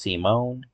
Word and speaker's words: Simone: Oh, his name is Simone, not Simon. Okay, Simone the Digger. Age 21, height 6'2" or 188 centimeters. Occupations: digger, supreme commander, pilot, and is currently a hermit. Pronounced Simone.